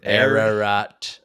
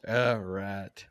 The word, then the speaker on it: Ararat: Say it. Ararat. Arat. The word rat. Mount Ararat.